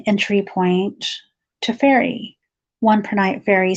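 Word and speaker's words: prehnite: it says per night I'm gonna pronounce it per night p-r-e-h-n-i-t-e tonight okay so number 20 nine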